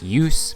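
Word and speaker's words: Djoos: the name of Christian Use. Don't ask me how a name that starts with DJ is pronounced Use, but it is, I looked it up. Use has 51 points in 56 games this season with the Hershey Bears.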